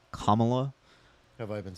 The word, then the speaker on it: Kamala: This is just a chart of by the way, it's pronounced Kamala.